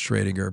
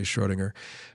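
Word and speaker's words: Schrödinger: you know or uh I think it's properly pronounced shringer but often hear people say Schrodinger but um you know uh Schrodinger was one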